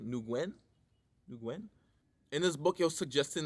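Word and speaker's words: Nguyen: think by Joseph nuguen I think I should pronounced the man's name new Gwen in this book you're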